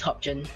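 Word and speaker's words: Hobgoblin: Hobjin, I think, is Hobjin. Hobjin, like hard G.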